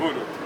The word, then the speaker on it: Uhuru: UHURU, yes.